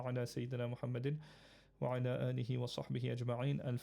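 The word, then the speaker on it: آله: salli ala Muhammadin wa alih with the h at the end. So alihi, you can say alihi just to emphasize it, or alih, but you need to pronounce the h.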